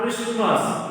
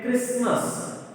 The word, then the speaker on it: Christmas: It's not Christmas. It is a Christmas. It is a Christmas. So T is the silent letter.